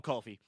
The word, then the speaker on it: Kofi: Yes, just call him Kofi. Just like Cody. It's just Kofi.